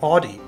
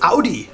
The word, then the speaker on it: Audi: tend talking to Americans saying Audie yeah in America we say audio right yeah I think so I can't even remember now but it's OD yeah it's fun to